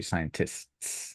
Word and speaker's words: scientists: So it'll be scientists. I know it's quite difficult for native Spanish speakers to pronounce Yeah, the t's at the end, yeah.